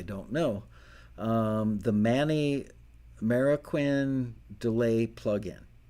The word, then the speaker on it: Marroquin: know um the manny marroquin delay plug-in i think it's pronounced mariquin m-a-r-r i believe i